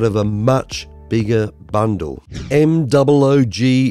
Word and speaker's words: Moog: M-O-O-G is pronounced Moog, which is why this is called the Moogerfooger effects bundle.